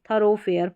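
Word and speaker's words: thoroughfare: कम तो थरो फेयर यहां पर भी ओ है तो ओ साउंड जैसे डो या दो इन दो में होती है ऐसे आप याद रख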